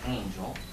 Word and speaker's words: Angell: Maybe Angel, but. No. Would you state your name just to clarify? My family name is Angel, spelled with two L's, and my given names